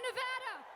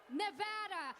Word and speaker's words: Nevada: state nevada welcome to nevada and just to be clear it's pronounced nevada not nevada the silver state the